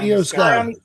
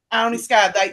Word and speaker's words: Io Sky: Yeah, Io Sky. Ione Sky. They had a spot that's supposed to be Io.